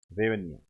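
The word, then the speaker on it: гривня: H silent है यहां पर, रेवनिया, ये है इसकी मुद्रा।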